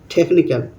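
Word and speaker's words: technical: যখন কোন শব্দের মাঝে সি এর পরে এইচ আসে তখন এইচ সাইলেন্ট হয়ে যায়। যেমন টেকনিক্যাল টেকনিক্যাল এখানে সিচ আছে একসঙ্গে সি এর পরে এইচ আছে এখানে এইচটা সাইলেন্ট হয়ে গেছে তারপর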